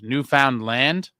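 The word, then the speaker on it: Newfoundland: Uh, Mercy Mercer is from rhymes with understand new found land.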